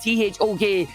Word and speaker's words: thok: As long as you are in the air and you are using the thok, that is spelled T-H-O-K. It sounds like thok. It sounds like the noise that it is making.